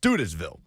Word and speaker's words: Studesville: your own research just know that it is pronounced studesville in the F&M Bank chat is backing me